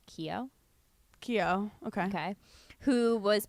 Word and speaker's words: Keo: Keo.